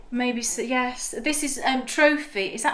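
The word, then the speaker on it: trofie: This is trophy. Is that how you say it? Trophy?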